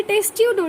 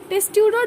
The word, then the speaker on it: Testudo: फिर टेस्ट्यूडो, TESTUDO, टेस्ट्यूडो tortoise, T से टेस्ट्यूडो tortoise. किलॉन है टर्टल, किलॉन टर्टल, टेस्ट्यूडो टॉर्टोइज.